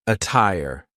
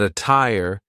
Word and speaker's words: attire: The true t sound can also be used when there is a double t like in the word attire. But be careful because a lot of double T words will sound like a fast D. But attire is an example of a double T that sounds like a true T.